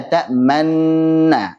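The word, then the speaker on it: تأمنا: Jadi tidak diucapkan nu lagi, tapi hanya diisyaratkan monyongnya saja. Bacanya la ta'manna.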